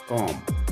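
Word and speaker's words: comb: करते हैं क्लाइम सी एल आई एम बी कॉम सी ओ एम बी कॉम्ब नहीं पढ़ेंगे फिर उसके बाद हम बात करते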